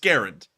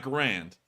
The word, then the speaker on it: Garand: from garan saying my last name is pronounced Garand that's not Grand and everyone in America